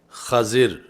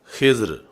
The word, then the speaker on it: خضر: سے مجھے بھی سکھائیں۔ تو یہ لفظ خضر فتح خا کے ساتھ اور کسرہ ضاد کے ساتھ، اور ایسے ہی خضر یعنی دوسرا اس کا تلفظ خضر ہے، خضر اور خضر، یہ آپ کا لقب